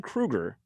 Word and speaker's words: Kroeger: It's spelled Kroeger, so everybody always thought it's Chad Kroeger. Right. I always thought that's what it was. And he goes, no, it is Kroeger. That's how it's pronounced.